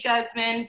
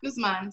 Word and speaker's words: Guzman: name the correct way most people say guzman but i'm latina so it's guzman so thank you uh